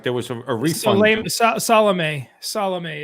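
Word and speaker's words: Salameh: there was a reason salome is his name s-a-l-a-m-e-h so uh yeah i believe that's how you pronounce it yeah so okay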